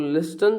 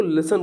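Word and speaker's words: listen: और लिस्टन जो लिख रहा है ना इसको लिसन बोलते हैं। लिसन में टी रहता है। ठीक है? इसको लिस्टन नहीं पढ़ते बच्चों। इसको लिसन पढ़ते हैं अपन।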